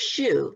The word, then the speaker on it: Hsu: for inviting me on it's actually pronounced shoe like the shoe you wear silent so okay that's